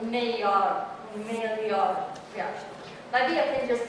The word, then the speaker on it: Maillard: It's a Maillard reaction.